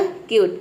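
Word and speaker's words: cute: और ये आपको पता है किसी भी वर्ड के अंत में ई आता है तो हम इनको प्रोनाउंस नहीं करते हैं, तो ई यहाँ पे साइलेंट हो गया। ये हो गया आपका क्यूट।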